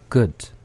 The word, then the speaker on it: good: 자, good가 good 이렇게 될 거고요. 나영 학생도 같이 한번 해볼까요? good good. 네. 그 대신 우로 한번 해 볼게요. good. good. 그다음에 으로 good. good.